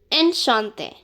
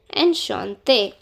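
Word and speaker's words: enchanté: N Shante. Ensh Shante. N Shante. Enshante. This E is not pronounced. Just this E is pronounced since it has an accent on it.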